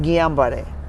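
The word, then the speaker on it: Guillain-Barré: वो अभी जो न्यूज़ में है ना, GUILLAINBARRE, उसका सही उच्चारण है गियाबारे।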